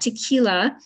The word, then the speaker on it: Tekeyla: tequila Friday Studios and you'll notice that tequila under the Red X is spelled differently because that's how my name is pronounced and often people misspell